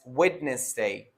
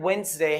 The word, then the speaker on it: Wednesday: next word is wednesday most of the students they pronounce it as witness day but the word wednesday has actually two syllables which is wednesday not wetness day wednesday well the next